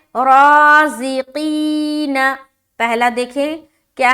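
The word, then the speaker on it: رازقين: रा अलिफ ज़बर रा, ज़ा ज़ेर ज़ी, क़ाफ या ज़ेर क़ी, नून ज़बर न, राज़िकीन, राज़िकीन।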